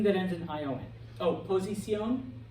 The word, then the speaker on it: posición: Oh, posición, position, accent on the O.